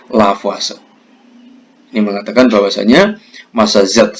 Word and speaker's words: Lavoisier: Penulisannya Lavoisier, membacanya Lavoisier.